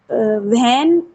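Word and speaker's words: when: clean in my room व्हेन व्हेन व्हेन आई व्हेन नहीं व्हेन ये H silent रखो व्हेन व्हेन व्हेन आई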